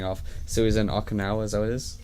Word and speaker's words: Okinawa: So he was in Okinawa, is that what it is? Is that what it's called? Is that how you pronounce it? Okinawa.